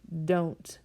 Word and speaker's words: don't: But we're not going to say do not into don't. We'd sound a little bit Scottish there. We're going to say don't. Don't. The O gets a long O sound.